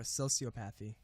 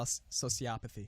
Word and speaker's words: sociopathy: I could One thing I did not know, it's not pronounced psychopathy or sociopathy. Psychopathy and so sociopathy.